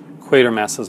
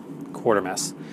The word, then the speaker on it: Quatermass: And how many videos have you seen where people actually mispronounce Quatermass's name as a Quartermass?